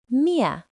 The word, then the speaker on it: 灭: Its pronunciation is Mia.